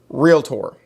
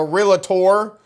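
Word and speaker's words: Realtor: here eye contact folks it is in fact real Tor okay I know some of us are from the south and we're all tempted to put extra syllables in there that don't belong okay it is not in fact a realator there not a real none of that you know why when you get sick you don't go see a docor do you you go to the doctor it is a real Tor now that I've made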